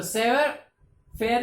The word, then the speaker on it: savoir-faire: ये फ्रेंच का वर्ड है, इसके लिए इसका प्रोनाउंस थोड़ा सा चेंज आता है और चेंज स्टाइल से इसका प्रोनाउंस करना पड़ता है। तो सेवर फेयर इसका जो है वो वर्ड है और उसका प्रोनाउंसिएशन अलग है।